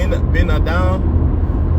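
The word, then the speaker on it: בן אדם: man what the B benadam badam that's how you say it in Hebrew or bar Adam or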